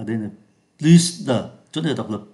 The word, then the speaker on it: plus: đấy chúng ta phải phát âm là plus plus giống như trên này Plus khu vườn của